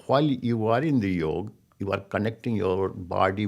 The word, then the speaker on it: yoga: same times you know Yoga is much more beyond that in fact I'm mispronouncing it's not yoga it's a yoke okay long not long a at the end yoke and it Sanskrit words